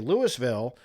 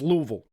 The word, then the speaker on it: Louisville: Yeah, when you're in Kentucky, it's important to pronounce that Louisville. Okay, if you're up in Kentucky and you say Lewisville or Louisville, everybody up there will get all upset with their accent and be like, "It's Louisville.